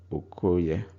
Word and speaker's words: Okoye: Remember, Oke is male, so the boy becomes Okoye. Now Oke Oye becomes Okoye because O forces the A to drop out of the spoken word. Oke Oye, Okoye.